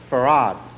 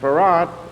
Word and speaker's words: Fard: Fard Muhammad. This man is called Fard spelled in the encyclopedia F A R D but pronounced F A R A D.